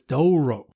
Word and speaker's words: Douro: Thank Well, I don't know if I'm totally saying it right, but it's d o u r o, but it's dooo. That's how you say it. Doro tinto.